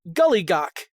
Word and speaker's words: Giljagaur: Uh In English pronounced to Gullygawk.